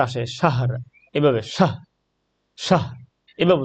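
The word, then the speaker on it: شَهْر: এভাবে উচ্চারণটা হবে শাহ লাস্টে যে র উচ্চারণটা এটা কিন্তু করতেই হবে শাহ মানে র এর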